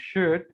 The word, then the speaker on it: should: to show you something in the words wood could and should the l is silent yeah it's not sound it's wood i'm joined in either